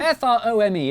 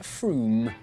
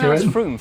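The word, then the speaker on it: Frome: or on your train wrong it's not from f-r-o-m-e it should be blitheringly obvious it's pronounced froome but if you did say from don't worry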